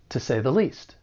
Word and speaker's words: to say the least: like to point out the first one is two so when it's unstressed it's going to sound weaker and it'll sound like ta with that schwa sound the other unstressed word is the article the and this is because it comes before a word that begins with a consonant sound and I think the article is commonly pronounced with that schwa the so all together it's going to sound like to say the least to say the